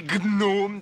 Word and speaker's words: gnome: saurais que le j'ai donc nos hommes se prononce on dit gnome d'accord ou pas d'accord il joue pas avec